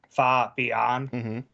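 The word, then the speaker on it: Fabián: Marco Fabian yeah and he annunciated as fa beond my brain immediately tied it into the fa Mulan from from the Mulan so now every time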